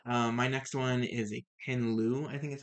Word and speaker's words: Ken Liu: My next one is a Ken Liu, I think is how you pronounce his name.